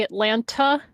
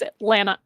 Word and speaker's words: Atlanta: If you say Atlanta with the hard T, we're like, yeah, you're not from here. Ah. It's Atlanta. Atlanta. That's how it's spread. Atlanna. Atlanta. That's how you say it.